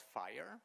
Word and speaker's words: FHIR: moved on to a a standard that's called fire this is how you pronounce this fhir fire standard I know that